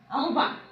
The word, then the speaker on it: আহ্বান: উচ্চারণ করবো কিন্তু এইভাবে, আহ্বান। কেননা আমরা জানি যে আমরা উচ্চারণের নিয়মে শিখেছি যে হয়ের সঙ্গে ব যুক্ত হলে সেই ব মহাপ্রাণ রূপে উচ্চারিত হয়।